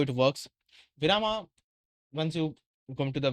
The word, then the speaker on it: Virama: Hi, I'm and this is Virama, my project for Open AI Build Week. Virama, or pronounced as Viram, means pause, break, or rest in Hindi.